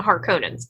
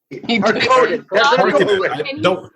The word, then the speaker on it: Harkonnen: Harkonnen. Harkonnen has no emphasis. Harkonnen.